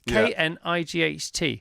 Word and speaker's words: knight: Knight. Silent K, stupid GH.